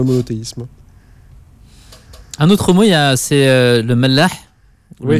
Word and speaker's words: Mellah: Un autre mot, le Mellah. Oui. Le Mela. Oui. Heureusement que c'est vous qui le prononcez, Yacine, et je vous remercie de cette initiative.